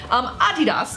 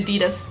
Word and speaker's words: Adidas: Adidas, I'm just gonna say it correctly because I know we say it wrong. We say Adidas in the America, United States of America.